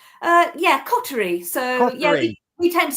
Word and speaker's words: Coterie: live on the radio by awardwinning Tracy at Cotery Leather. A very good morning to you. Hi. Am I pronouncing that correctly? Uh yeah, Coty.